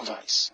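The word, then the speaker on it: Weiss: spells w-e-i-s-s please micro Vice that's how you pronounce it because in German in Germanic language W is pronounced as V like the Volkswagen before um that's what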